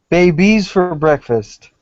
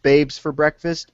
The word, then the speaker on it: Babes for Breakfast: Babies for breakfast. No, technically it's pronounced Babes for Breakfast. Babies for Breakfast is in the song lyrics.